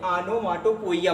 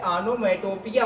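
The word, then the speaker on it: onomatopoeia: इसको लोग गलत क्या बोलते हैं, आनोमाटोपोइया बोलते हैं, लेकिन आनोमाटोपोइया राइट प्रोनाउंसिएशन नहीं होता है। होता क्या है, आनोमेटोपिया होता है। राइट प्रोनाउंसिएशन क्या कहलाता है, आनोमेटोपिया, ये राइट प्रोनाउंसिएशन होता है।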